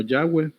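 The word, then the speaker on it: Yahweh: W H que es se dice que se pronuncia como yagüe el nombre de Dios es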